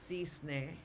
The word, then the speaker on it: cisne: So like with the word cisne, okay, they would pronounce it cisne, okay, like a TH.